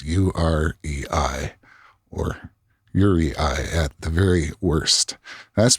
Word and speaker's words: UREI: if i'm wrong i believed that it's not pronounced your a or yuri or uri but it is pronounced u-r-e-i or yuri i at the very worst that's because it stands